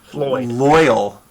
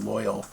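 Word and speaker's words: Lloyl: it that way uh lyle but with an o so it's not lyle it's loyal i think that was actually what i was going for was the word loyal that spelt weird that's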